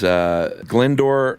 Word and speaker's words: Glyndwr: His name is Glendower Michael. Yeah, that is not how that's spelled either. No, it is Glyndwr. Super Welsh.